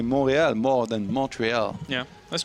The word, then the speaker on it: Montréal: Montreal? In French. It's a French word, right? And in French it's Montréal.